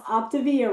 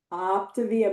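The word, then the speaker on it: Optavia: You're going to tell me who your coach is and you're going to pronounce Opivvilla right. Optivia. Mama mia. Opivvilla. I'm joking with y'all. I said it wrong for so long, but I'm just That's my little joke.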